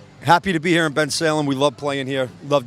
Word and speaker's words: Bensalem: How do you say that anyway? Bensalem. Bensalem. I did good. Like it looks.